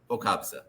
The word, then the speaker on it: Boukobza: Boukobza. Yes. Boukobza.